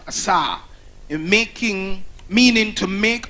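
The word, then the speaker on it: עָשָׂה: made is actually as a it means it's pronounced Assa in making meaning to make out of previously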